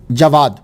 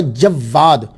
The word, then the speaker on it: جواد: امام الجواد، امام التقی۔ یہ الجواد جو ہے ایک تلفظ ہے جواد، واو کے اوپر سمپل زبر، جواد، جواد بغیر شد کے، تو اس کا معنی ہوتا ہے سخی۔ دوسرا پروننسیشن تلفظ جو ہے وہ ہے جواد، واو کے اوپر جو ہے وہ شد ہے، اس کا معنی ہوتا ہے بہت سخی۔ تو میرے نزدیک جو